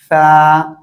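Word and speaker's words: فاء: এই অক্ষরের নাম হলো ফা ফা জিহ্বার আগা এই সামনের উপরের দুই দাঁতের এই দুই দাঁতের আগার সাথে এভাবে লাগান লাগিয়ে এবার হালকা বাতাস বের করেন ফা ফা ফা আশা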